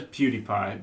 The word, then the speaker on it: PewDiePie: is yeah it's pretty crazy I think it's pronounced PewDiePie okay its beauty I didn't mind drum it definitely is PewDiePie but I think ooty by and I don't